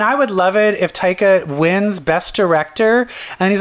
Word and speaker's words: Taika: Taiki? How do you say his name? Taika.